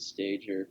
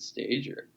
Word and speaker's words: Stager: They're like, we're going hard G. I don't know why people would not think to pronounce it stager, but then every once in a while someone pronounces it stager.